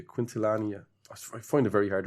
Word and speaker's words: Quintanilla: No, not Quintilla. Quintilania.